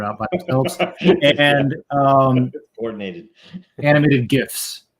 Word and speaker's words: GIF: fishermen that are out and um coordinated animated gifs right even though the inventor of the gift says it's pronounced Jiff he's wrong it's a gif yeah um so